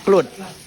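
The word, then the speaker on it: Kluet: Bacanya Kluwet apa Kluwet? Kalau di bahasanya Kluwet, Kluwet. tulisannya kan Kluwet ya kan. Nah, bacanya Kluwet.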